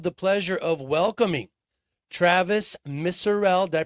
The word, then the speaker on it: Misurell: Today I have the pleasure of welcoming Travis Murell. Did I pronounce that correctly, sir?